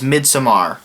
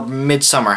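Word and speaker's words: Midsommar: as it should have a number 15 is mid Samar or midsummer however you want to pronounce it Arry Astor 2nd horror film provides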